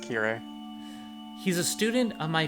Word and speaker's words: Kirei: is in japanese means clean yeah yeah it's pronounced kirei he's a student of my father and we've